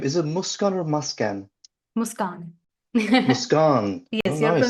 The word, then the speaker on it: Muskan: Muskan. Muskan. Oh, Yes, your nice.